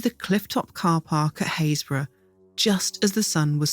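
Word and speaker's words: Happisburgh: Haysborough isn't an especially well-known coastal town, but there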